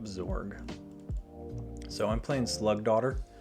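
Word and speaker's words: dottir: so i'm playing slug daughter i always pronounce this slug dotier but d-o-t-t-i-r is pronounced daughter if you did not know that so slug daughter the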